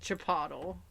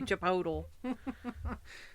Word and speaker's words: Chipotle: I've got a coworker that calls it Chipotle. It should be Chipotle.